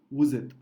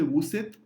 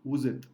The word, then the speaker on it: vous êtes: liaison and we say vous êtes. Again, we don't say vous êtes because S is between two vowels after liaison, so it is vous êtes.